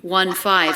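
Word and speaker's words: fifteen: the rules 50 but 1 5 15 has a true t stress on the second syllable well i'm 15 years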